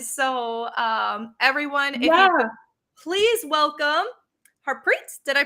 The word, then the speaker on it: Harpreet: hear you and so um everyone please welcome harpreet did i pronounce that correctly yes you did so uh